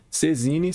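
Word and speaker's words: saisine: Sezine, se escreve Saizine.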